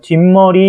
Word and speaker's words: 뒷머리: 뒷머리 이것도 마찬가지로 발음이 어떻게 되죠? 그렇죠. 뒷머리 이렇게 발음되니까 시옷을 받쳐 적었다.